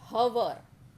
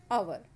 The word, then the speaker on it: hour: Start begin with yes H we cannot say hover right no h is a silent word in this silent letter in this word so we use